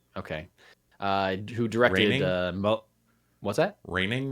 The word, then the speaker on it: Rønning: Joachin Rønning? Joachin Rønning? Okay. Who directed... what's that? Rønning, maybe? Yeah, because it's the O with the slash through it.